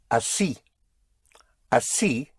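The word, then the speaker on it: así: that way which is a ci which is spelled as si and it has an accent over the i.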